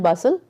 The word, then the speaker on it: bustle: It should be hustle and bustle. So here the T is silent.